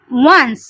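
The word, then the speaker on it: once: দেখো, ওয়ান্সটা আমরা কিভাবে উচ্চারণ করছি? ও এন, অন হচ্ছে সিই। দেখো, সিই আলাদা করে আর উচ্চারণ হয় না, সেই জন্য আমরা এইটাকে কিন্তু পুরোটা একবারে উচ্চারণ করব। ওয়ান্স, ও এন সিই, ওয়ান্স।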